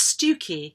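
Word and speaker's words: Stiffkey: among other things that s-t-i-f-f-k-e-y is not pronounced stiff-key it's pronounced stuki which seems to me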